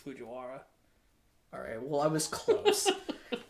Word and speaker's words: Fujiwara: I'm not as invested as I am in like Fujikawa, who raps and cheats. And got her name wrong. I did. I think it's Fujiwara.